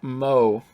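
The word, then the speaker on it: moe: around characters who possess such traits pronounced MO all right we're all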